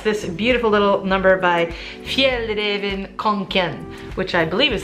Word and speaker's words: Fjällräven: And it's this beautiful little number by Fjällräven Kanken, which I believe is how you pronounce it in Swedish.